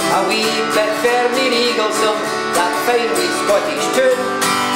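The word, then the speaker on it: Eaglesham: Eaglesome, if you spell it out, I'm so sorry to do this, it spells out like Eagle Sham, but you say Eaglesome.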